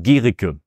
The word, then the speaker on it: Guericke: And so it's pronounced Guericke.